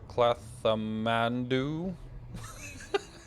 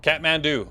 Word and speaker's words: Kathmandu: in the asian period i can't pronounce that clatham mandu uh yes kathmandu ah yes there we go you are you are correct man i know that